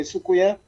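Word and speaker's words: soucouyant: But we say Sukuya, but it's a French, but Sukuya. Yeah, it's spelled Sukuyant, but it's pronounced Sukuya.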